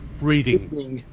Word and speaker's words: Reading: which country's got a town named Reading that's spelt reading? Yeah, it is. Right. It is Reading. It's got silent A.